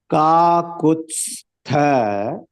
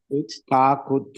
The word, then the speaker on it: काकुत्स्थ: है लक्ष्मणानुचरो बलि काकुत्स्थ प्रोनाउंसिएशन देखो कुत्स्थ दो हाफ वर्ड है त हाफ है स हाफ है और उसके बाद थ आता है काकुत्स्थ काकुत्थ नहीं काकुत्स्थ अर्धा त है अर्धा स है उसके बाद थ है